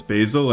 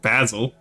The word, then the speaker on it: basil: So, uh, the first one says its own name, which is the vowel is a.